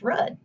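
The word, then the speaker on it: RUDDH: letters only for example the spelling of rudd r-u-d-d-h is pronounced red the stars in the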